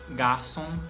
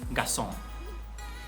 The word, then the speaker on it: garçom: Por exemplo, por muitos anos eu falei garçom em vez de garçom e alguém em vez de alguém.